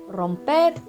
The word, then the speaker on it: romper: Exemple, correr, courir, romper, rompre. Remarque, la prononciation de romper, écrit avec un seul R, est forte car le R est en début de mot.